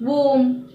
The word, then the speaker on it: womb: Now for the rule when the letter B is not pronounced when it comes after an M. For example, comb, womb, tomb, plumber, thumb, dumb.